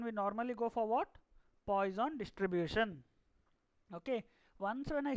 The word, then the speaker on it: Poisson: Actually, it's pronounced as Poisson distribution.